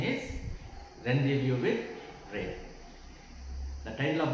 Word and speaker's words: Rendezvous: In this unit, first lesson, A reading is Rendezvous with Ray, not Rendezvous. Actual pronunciation is Rendezvous with Ray.